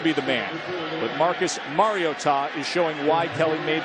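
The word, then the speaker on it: Mariota: It's Mario and then Ta. Put it all together, Marcus Mar-I-o-tah.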